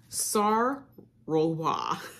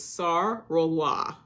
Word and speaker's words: Sart Roloise: And last but not least, I have Sart Roloise. And that is how you pronounce it. I actually went to, like a French pronunciation website. So it's Sart Roloise.